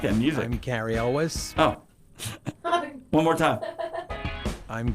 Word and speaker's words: Elwes: He pronounces his name Elwes. Okay, and we have been raised to pronounce it Cary Yules.